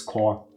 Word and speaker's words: corps: It's French. It's core. The PS is silent. It's one of those stupid words. I'll stick to corpse.